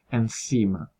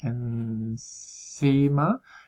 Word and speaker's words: enzima: z como por ejemplo en la palabra enzima en este caso se pronuncia con la punta de la lengua entre los dientes en cima y la transcripción sería